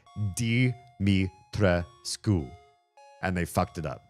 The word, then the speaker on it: Dimitrescu: And they used their fucked up pronunciation in Japan and used in the American localization, they call her Domitresk. Domitresk. Her name is Dimitrescu.